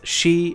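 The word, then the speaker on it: 四: are very have negative connotations four can be pronounced as she in Japanese which is the same pronunciation that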